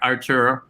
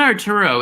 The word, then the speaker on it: Artur: So there could be a job for you, Arturo. You know, it's not Arturo. It's like Artur.